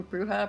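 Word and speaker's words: bruxa: yeah that I think that pronunciation is similar to like how alua is alua not aluxa it's BR bruha brusa it means witch I did someone told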